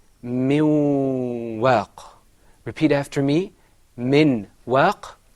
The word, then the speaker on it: من واق: Now, remember, when we said min waq, in the Qur'an we don't say min waq. The noon is not fully articulated. It is pronounced min waq.